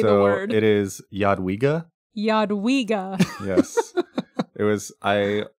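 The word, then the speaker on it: Jadwiga: like two second video of just you saying yadwiga and somehow get it on the Pathfinder Wiki is like the official pronunciation video Yad WEA Yad we spoken by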